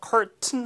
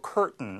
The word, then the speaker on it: curtain: T 다음에 뒤에 이렇게 N 사운드가 나오면 이제 미국식 이제 발음의 현상인데. 하고 이게 밀듯이 그래서 curtain 하지 않고 curtain 이렇게 이제 발음이 될 수가 있습니다.